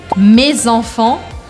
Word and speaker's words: mes enfants: Vocês estão vendo que eu não falo mes enfants. A gente aqui pronuncia excepcionalmente o S de me, porque eu grudo com o som da próxima palavra, que está começando com uma vogal.